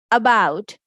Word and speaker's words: about: Along, around, about, above. Letter A is saying the shua sound because this is unstressed syllable.